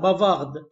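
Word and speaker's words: bavarde: احط لها الاو تبقى بافارد، وهنا طبعا حرف الدي هيتنطق عشان ما عادش اخر حرف، بافار بافارد.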